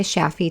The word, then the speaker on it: Shafie: Connect with her on LinkedIn or Instagram at Sheeta Shafi to learn more. Sheeta is spelled Shideh, and Shafi is spelled Shafie.